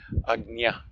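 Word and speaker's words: Ajna: It's another way of pronouncing the third eye chakra. And according to some of the pure Sanskritam resources, it is the proper way to pronounce Agnya.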